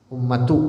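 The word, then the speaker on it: أُمَّةُ: Wa qad ibtuliyatil ummatu, dan telah kena bala atau diuji ini umat, ummatu bacanya, ibtuliyatil ummatu pakai dhammah, bi aqwamin, dengan beberapa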